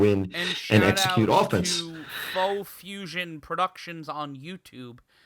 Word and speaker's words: Pho Fusion: To Faux Fusion Productions on YouTube. That's faux spelled like the noodle soup, PHO Fusion, the usual way.